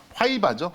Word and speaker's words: 화이바: 뭐 이렇게 보통 안전모 할 때 아니면 헌병들이 쓰는 이제 그런 거를 볼 때 하이바라는 그게 이제 하이바가 아니라 화이바죠.